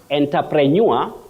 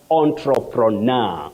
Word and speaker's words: entrepreneur: manmani of kissy bet there's a word here uhhuh enterpreneur no not in English we don't have enterpreneur that we commonly hear around us it's entrepreneur or entrepreneur then you can also say anro prur so we don't have